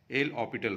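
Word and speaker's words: L'Hôpital: rule जब लगाएंगे देखिए एल हॉस्पिटल पढ़ा जाता है लिखा जाता है लेकिन पढ़ते समय एच का प्रोनंसिएशन नहीं होता है एल ऑ पिटल रूल तो यहां पर एस भी साइलेंट रहता है तो यह तब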